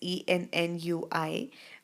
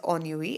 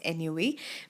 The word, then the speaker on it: ennui: Even though it's written as Ennui, but it's pronounced as ennui.